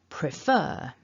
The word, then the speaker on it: prefer: all begin with pr now the second syllable is the stressed syllable you can see from that mark at the top in the middle before the f that tells us the syllable afterwards is stressed so i'll run through them and just listen to where you hear the stress falling and try and repeat what you hear so prefer preferred preferred prefers so hopefully you are stressing the second syllable there now let's pay